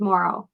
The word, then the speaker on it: Mauro: a r o so you pronounce it as if you were going to spell it m o r r o w Mor I just I